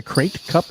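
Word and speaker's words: Krait: it your channel yes did you say the crate Cup like the crate dragon it's spelled K or a whitey create like a great dragon this is the fifth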